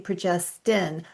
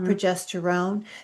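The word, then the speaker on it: progestin: the um estrogen progesterin you notice how I'm pronouncing progesterin not progesterone because it's two very very different things and too many people and even in reports say progesterone when in fact it is progesterine that was used in the trial or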